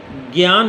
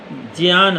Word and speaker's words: ज्ञान: ज्ञान नहीं है, ज्ञान है। ज्ञा बनता है जा धन इया से, इसलिए इसका उच्चारण होगा ज्ञान। ग इया से नहीं बनता है, इसलिए ज्ञान कभी न कहें।